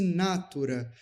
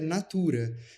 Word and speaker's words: natura: se a palavra fosse natura, quando a palavra é natura.